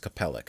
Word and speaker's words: Capellix: Okay, it's pronounced Capellix, sorry.